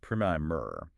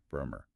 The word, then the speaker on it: primer: If you were talking about a small, informative introductory book, it's pronounced primer. But if you're talking about the initial coat of paint you put on a wall to prep it, it is P-R-Y, Bremer.